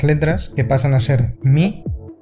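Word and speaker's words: μ: Esto nos cambia las pronunciaciones de estas letras que pasan a ser Mi, Ni, Y y Taf.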